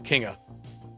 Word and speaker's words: Kinga: I'm gonna get mad at them because their pronunciation on the team sheet says that their name is Kinga.